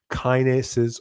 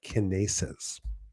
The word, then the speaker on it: kinase: Those relay molecules are called, depending on how you want to pronounce it, kinases or kinases.